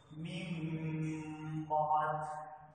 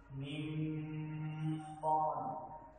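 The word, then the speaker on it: مِن بَعد: নুন সাকিন এবং তানবিনের পরে যদি বা হরফ থাকে তাহলে সেই নুন সাকিন এবং তানবিনকে মিম দ্বারা পরিবর্তন করে উচ্চারণ করতে হয়, ইয়াকে ইকলাব বা কলব বলা হয়। যেমন মিম বাদ, মিম বাদ, এখানে মিম, এখানে একটি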